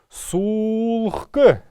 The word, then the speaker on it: сулхк: Сулхк. ГХ, как мы помним, я уже несколько раз говорил об этом, читается как ГК.